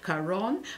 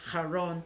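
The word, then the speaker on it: Charon: you call in english now is called kar kharon but actually in greek you should pronounce this is haron and you will see that both this religious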